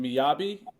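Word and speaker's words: Mjällby: Is it Miyabi? Yeah, that's right. That's Yeah. a difficult one Okay. to pronounce. I saw the J and I was like, I'm gonna assume it's a Y, kind of.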